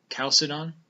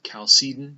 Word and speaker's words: Chalcedon: be dealing with the council of chalcedon or cal seton depending on how you pronounce it just say it confidently